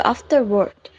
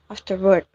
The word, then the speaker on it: afterward: The pronunciation in the video afterward, and the correct one is afterward.